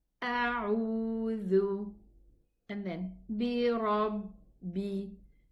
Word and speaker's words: بِرَبِّ: And then bi rabbi. Here we have shadda ba. So we are going to pronounce 2 ba, ba sukun and a ba kasra.